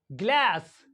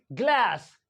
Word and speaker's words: glass: एंड in American English G एल ए एस एस ग्लास ग्लास ग्लास this इ नॉट ग्लास this इ ग्लास ग्लास in American English